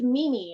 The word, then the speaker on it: Meme: how do you say m-e-m-e is it meme is it mimi is it mama how do you say it and so my dad was like no it's mimi and so now every